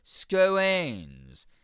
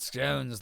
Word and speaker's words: scones: Much hair informs me that in educated circles, scones rhymes with bones, like scones. Not scones like we've been saying.